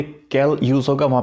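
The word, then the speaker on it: quel: इसके लिए हमारे पास में 4 हैं, कैल, कैल प्रोनाउंसिएशन सबकी सेम है, कैल एंड कैल।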